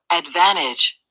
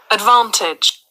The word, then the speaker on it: advantage: advantage, advantage. 이러면 영국 사람 된 거예요. 근데 철자를 연상하기에는 어느 나라 게 더 좋아요? 영국 게 더 좋아요. advantage, T를 발음하니까. 미국식은 T라기보다 D 비슷하게 나와요.